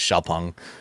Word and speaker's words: Xpeng: X is Xiao. So Xiao, and then it's not Peng, it's Peng? Yes. Because it's Xpeng for anyone wondering.